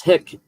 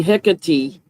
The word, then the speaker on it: Hecate: Okay, Google is saying Hecate, Hecate. like HEHKUHTEE.